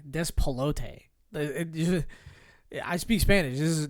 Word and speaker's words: Despelote: Despelota. Oh, why did I say it like a white guy? Despelote.